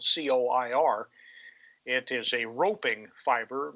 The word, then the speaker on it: coir: of is coir, spelled COIR. It is a roping fiber made from the husks of coconut. About 1 million tons of coir or coir, it's pronounced differently in different places, are produced each year, primarily in India.